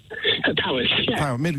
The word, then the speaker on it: Powys: Steve's in Middleton, Powys. Did I pronounce that correctly? Powys, yeah.